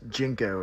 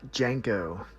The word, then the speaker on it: JNCO: uh correcting pronunciation Sabrina it's jinko not Janko nobody says Janko I think I said